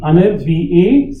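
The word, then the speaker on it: अनिर्वाच्य: So I would say there should be Anirvachya. Chya. It's not cha.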